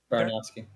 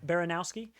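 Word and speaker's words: Baranowsky: Baranowski. Baranowski.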